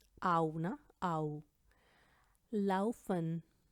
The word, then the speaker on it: laufen: अब हम बात करने लगे हैं आ ऊ और ए ऊ की। Zum Beispiel Auge, Auge, Haus, Haus, Au, na, Au, Laufen, Laufen, Aufgeben, Aufgeben, हार मान